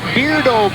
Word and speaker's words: Beardo: Octoberfest entertainment with the beardo brothers and this is a rather yeah well it spelled like weirdo with a beer with a be on the front so you can make